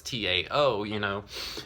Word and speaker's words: Tao: T-A-U, whereas the Tau is T-A-O, but it's phonetically identical unless you consider it as the Tao with the letter D, but D and T are interchangeable.